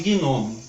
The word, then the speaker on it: gnomo: E quanto à força da acentuação tônica, gnomo, nós não pronunciamos gnomo, e sim gnomo, gnomo. Significa que é uma palavra dissílaba, paroxítona, que tem o seu acento tônico na primeira sílaba.